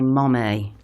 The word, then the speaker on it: mommy: And then people get cross because in Birmingham we don't even say mummy, we say mommy.